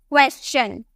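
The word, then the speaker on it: question: से क्वेश्चन बोलता है, लेकिन इसकी करेक्ट प्रोनाउंसिएशन क्या है? आपको यहाँ पर एस के बाद TION देखने को मिल रहा, एस के बाद TION देखने को मिलेगा, तो यहाँ पे हम चौ में प्रोनाउंस करेंगे, हम इसे क्या बोलेंगे? क्वेश्चन। क्या? क्वेश्चन।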